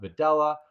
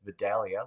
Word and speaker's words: Vadala: It's pronounced Vidella. My grandparents, my parents have always told me our last name is Videla. As that a in the middle of my name is pronounced like an E, like it's an E.